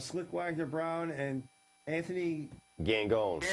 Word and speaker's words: Gangone: and Slick Wagner Brown and Anthony Gangone. Gone. Gangone. I was going to pronounce that the French way.